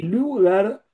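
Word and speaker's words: Lueger: Eh, y Lugar, Lugar en realidad se podría decirse Lugar porque quiere decir eh que se escribe con u, pero eh pero se pronuncia, no sé por qué eh cuestión ortográfica, lugar, así como si fuese u sola.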